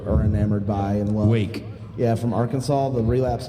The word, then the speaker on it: RWAKE: It's pronounced Wake, but it looks like RWAKE, the Arkansas band.